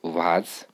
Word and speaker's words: vase: flowers in the vase vase is pronounced as was now this is a